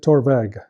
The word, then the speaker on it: Torabhaig: language until later years so we we took the BH spelling of torvak to to to use in in the uh in the name so we would pronounce it torveg the building is uh